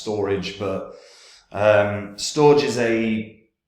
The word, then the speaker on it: Storj: now this is is actually going to be pronounced storage but um storage is a it's had a